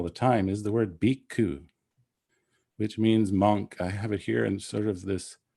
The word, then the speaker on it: bhikkhu: So it starts with an aspirated B, an I, a K, and then an aspirated K and a U, bhikkhu, bhikkhu.